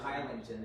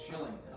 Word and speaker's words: Kylington: it's K-Y-L-I. It's not Kylington. It's Shillington. Okay.